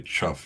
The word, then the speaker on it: chuff: He says, "It's with emphasis on the first syllable perhaps." Did you It's only a half a syllable. Just Just say chuff like everyone else says.